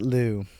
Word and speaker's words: Liu: Also, for anyone wondering, Lou is spelled L-I-U in this story, like Alyssa Liu's last name. So it could also be pronounced Liu. It's But we will pronounce it Lou, for the sake of easiness.